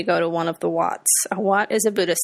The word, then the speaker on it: Wat: So I started first by trying to go to one of the Wats. A Wat is a Buddhist temple. It's spelled W-A-T.